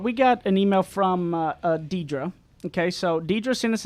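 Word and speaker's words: Deidra: the name problem she said my name is pronounced Deidre but I usually get everything but that because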